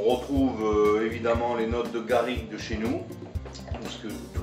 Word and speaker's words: garrigue: On retrouve évidemment les notes de garrigue de chez nous, parce que toutes les essences qui vont se multiplier avec le thym, la lavande.